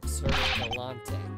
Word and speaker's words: Gallante: That's Sir Gallante, Pops. Get it right. Yeah, Nick, get it right. Well, how was I supposed to know that wasn't a silent E at the end?